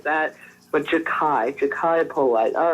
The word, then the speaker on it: Jachai Polite: I thought it was Jachai Polite, but I saw that it's not pronounced that way. So let's hear about your prospect out of Florida. Jachai Polite. That's how you say his name.